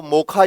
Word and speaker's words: Mocha: वो ये है कि इसका जो प्रोनाउंसिएशन होगा वो मोखा या मोचा इसको कहा जा सकता है।